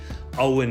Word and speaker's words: Eoin: in the word whereas it's actually a Celtic name and it's it's a little bit far-fetched but all win is how you pronounce it all right so now